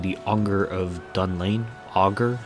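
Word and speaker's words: Augur: anger of dun lane auger yeah it's pronounced auger of dead lane who resides underneath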